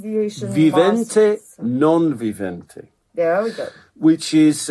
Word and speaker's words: non vivente: it's not quite it's it's Latin which is exactly the same as the Italian okay it's again pronounced the viente non vivente there we go which